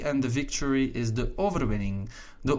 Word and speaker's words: overwinning: the victory is the overwinning the overwinning again notice the n and the g will pronounce it just like in english wing thing sing king and so on right